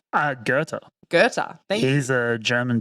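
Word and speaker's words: Goethe: to read so like when I first looked at it I was like go like is that how you say it like I don't know the Australian like Bogen in me kicked in I was like ghost is that how you say it ger is how you say it I like okay cool that's not intuitive at all so we don't like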